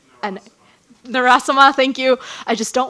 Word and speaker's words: Narasimhan: Her last name starts with the letter N, and Narasama, thank you. I just don't want to mess up the pronunciation, but with her lab, we have actually